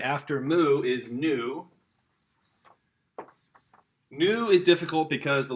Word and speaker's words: nu: All right, after mu is nu. Nu is difficult because the lowercase looks like a V. Kids oftentimes get this one confused. Okay, but this is the N sound in Greek.